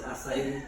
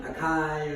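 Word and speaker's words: açaí: It's pronounced acai, not acai or acai.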